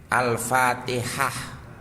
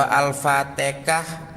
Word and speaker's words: Al-Fatihah: al-qur'annya atau menyebut suratnya kalau Fa Ya dibaca fa ta ya dibaca ta ha ya dibaca ha Alfatihah ya membacanya begitu kalau alfatikah mungkin itu karena dia